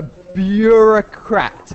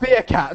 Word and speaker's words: bureaucrat: A bureaucrat, yeah? A bureaucrat. Bureaucrat. Bureaucrat. Bureaucrat. Not beer, Okay. not beer cat, not a beer cat.